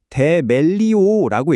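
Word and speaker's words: θεμελιόω: 우리의 첫 번째 핵심 단어 바로 데멜리우호부터 살펴보겠습니다.이 단어는 데멜리오라고 읽는데요.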